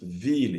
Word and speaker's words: ville: Example is ville. You cannot say ville. Mille. You cannot say mille. Tranquille. You cannot say tranquille. So note those exceptions. Ville, mille, tranquille. Those are not pronounced as ye.